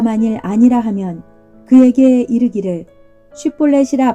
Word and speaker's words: 쉿볼렛: 아니라 하면 그에게 이르기를 쉿볼렛이라 발음하라 하여 에브라임 사람이 그렇게 바로 말하지 못하고 십볼렛이라 발음하면 길르앗 사람이 곧 그를 잡아서 요단강 나루턱에서 죽였더라.